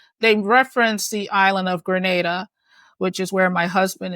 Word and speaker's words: Grenada: you don't mind they reference the island of Grenada which is where my husband is from and it's always interesting to see that not only did they say Grenada right pronounced it correctly which oftentimes people don't pronounce